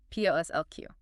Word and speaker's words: POSSLQ: p o s s l q Pronounced posslq.